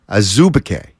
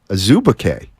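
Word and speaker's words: Azubuike: he acknowledged that yes that was the way it's pronounced in Nigeria here it's there so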